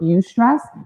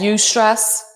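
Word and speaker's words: eustress: and and you have that type of your you stress then you're you're locked in you're gonna be more focused have more motivation and more creativity does that make sense that you stress have you ever heard that word because i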